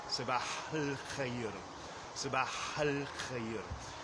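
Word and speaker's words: صباح الخير: So if I were just to say good morning, I say sabah al khair, sabah al khair. I don't really pronounce the A in the definite article of al-khair.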